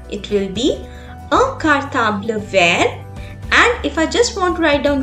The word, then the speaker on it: vert: In green color, the spellings are also different and the pronunciation is also different. So to masculine we say vert and to femina we say vert.